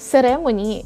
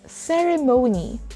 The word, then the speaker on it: ceremony: focus on these words it's not ceremony it's ceremony ceremony the stress is on the third syllable for words which are